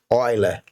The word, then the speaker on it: Euler: Na parte de teorema de Euler, ou Euler, não importa como você pronuncia, tá bom?